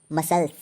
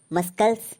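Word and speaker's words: muscles: उदाहरण के लिए दूसरा मसल्स एम यू एस सी एल ई एस तो इसको हम मस्कल नहीं पढ़ेंगे क्योंकि रूल बोलता है एस के बाद सी साइलेंट होता है तो इसको हम पढ़ेंगे मसल्स किसी भी स्पेलिंग में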